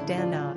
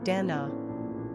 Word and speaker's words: Danna: Unlike Dana, which is usually pronounced either Dana or Danna, it seems clear that Danna would only be pronounced Danna, giving her a stronger, more masculine sensibility.